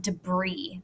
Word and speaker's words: debris: a unique word it it's pronounced differently than it's spelled but when you see that word that's pronounced debris the i-s is silent